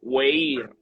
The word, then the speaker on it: Weir: en YouTube, y también Anthony Weir, que se pronuncia Weir en YouTube, le dan a la campanita y ahí estamos para servirles.